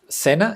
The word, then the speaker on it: Sena: Sena in Spanish is the name of the river that goes through Paris, the the capital of France. I think in English is Seine or something like that, but in Spanish it's called the Sena River.